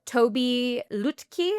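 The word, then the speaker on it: Tobi Lütke: The CEO, Toby Lutke, I believe is how you pronounce it, started speaking strongly about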